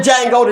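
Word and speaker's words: Django: y'all saw y'all saw the jang go to d is silent right it's like hello you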